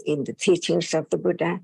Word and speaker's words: Buddha: But Thai cannot pronounce the sound in Pali exactly. That's why we use the word ka for the, like Buddha, we use the word Putta.